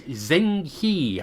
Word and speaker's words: Zheng He: and the uss is zheng he i think you pronounce it as but i'm probably murdering it because hey he's uh